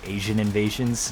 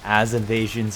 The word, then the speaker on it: Asian Invasions: The way to how to say the name of my channel is actually Asian Invasions, not As Invasions or Ans Invasions or whatever variant that you think it might be.